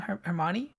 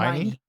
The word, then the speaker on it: Hermione: Hermione. Hermione. Hermione.